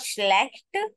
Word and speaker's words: schlecht: So this is not schlecht. Sure sound will become schlecht. Both SCH and CH, sure sound. Schlecht. Enter sound at the end.